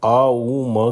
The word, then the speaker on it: ओम: गहरी सांस लें और आ उ म का उच्चारण करें। पूरा ध्यान ध्वनि पर केंद्रित रखें। ओम का उच्चारण करते समय यह ध्यान रखें कि अ करते समय आपकी आवाज पेट से उठनी चाहिए। उ तक आते-आते यह छाती और फिर गले से होते हुए जब तक म पे पहुंचेंगे तो सर